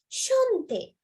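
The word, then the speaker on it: chanter: Shante, to sing. Shante. So remember මේ C එකයි H එකයි එක ළඟ තියෙනකොට sound එක හරියට sh වගේ.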